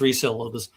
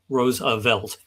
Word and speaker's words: Roosevelt: their their own name, and then he spelled it out phonetically. He he says it's Roosevelt, Roosevelt. Uh and a lot of people still mispronounce it.